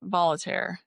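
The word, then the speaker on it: Voltaire: Then there's volunteer.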